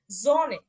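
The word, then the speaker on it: Sonne: ওকে, সুম বাইস্পিল অর্থাৎ উদাহরণ দেখেন, জনে, জনে, জনে মানে সূর্য, স্টার, এই দেখেন এস, এস এর পরে কি ছিল, ও ছিল, মানে ও ভাওয়েল ছিল, আচ্ছা, তখন এর উচ্চারণটা কি ভাওয়েল আছে। হয়েছে, জনে হয়েছে।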